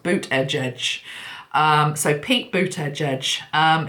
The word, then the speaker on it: Buttigieg: according to my article it's pronounced boot edge edge so Pete boot Oh